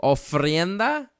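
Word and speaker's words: ofrenda: keep saying no friend that okay I always pronounce that round too oh frienda oh frienda uh-huh o f r e n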